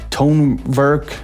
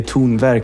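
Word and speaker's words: Tonverk: word um but yeah tun work so anyone who says tone work tone work um I mean you'll get a pass it's okay but uh if you say tun ver you will impress Swedish people more um but anyway so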